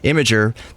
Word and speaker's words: Imgur: we heard from Sarah's own mouth that it's pronounced imager that's the beauty of social uh websites would